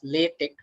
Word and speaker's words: LaTeX: Okay, it's written as latex but it is pronounced as latte.